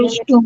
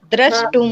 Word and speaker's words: द्रष्टुम: कहीं ना उच्चारण गलत करते जा रहे हो तो फिर लिखने दृष्टुम। में। हाँ, द्रष्टुम। द्रष्टुम।